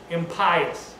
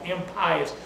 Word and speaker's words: impious: infamous alone for long in pious i spelled that i just pronounced that wrong impious pious means to be